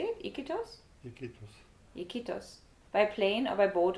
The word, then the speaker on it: Iquitos: Iquitos.